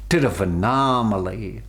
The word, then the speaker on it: Tiruvannamalai: up studying with my master in aruna in tiruvannamalai that's how they pronounced it terrafa naam alaihi and then you know the mountain arunachala is